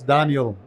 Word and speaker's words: Danielle: That will simplify the pronunciation. It's Daniel.